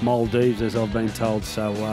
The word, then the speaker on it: Maldives: I'd go on a holiday to what I call the Maldives, but it's pronounced Maldives, as I've been told.